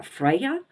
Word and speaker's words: Freya: by the god uh Freya and his twin sister now her name sounds the same Freya but it's spelled differently so you have Frey